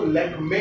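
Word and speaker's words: Lakmé: आप लोगों ने अक्सर कॉस्मेटिक्स ब्रांड्स लैक्मे देखा होगा, उसको लैक्मी नहीं कहा जाता, उसको ध्यान से देखिए, उसको लैक्मे कहा जाता है।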